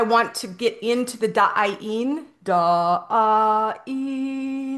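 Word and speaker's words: Da'aen: But today I want to get into the da'in. Da'in. It's a sound, it's a frequency, it's not a word, but it is spelled D-A apostrophe A-E-N.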